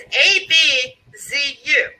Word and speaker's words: Abzu: The Egyptian pronunciation is based on the way it's spelled in Egyptian, which is apparently something equivalent to A, B as in boy, D as in dog, J as in Joseph, U. So A, B, D, J, U. And the DJ is pronounced Z. So the word is A, B, Z, U. Abzu.